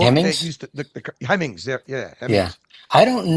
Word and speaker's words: Hemmings: Did that Bring a Trailer stem from, you remember Hemingway News? Am I pronouncing that right? The book Hemmings? that used to, the Hemmings, yeah, Hemmings.